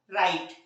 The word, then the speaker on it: write: हमारा साइलेंट तो कब होता है व साइलेंट स्पेलिंग कीजिए लिखने की लिखने को क्या बोलते हैं राइट व आर राइट क्या जाता है रोंग राइट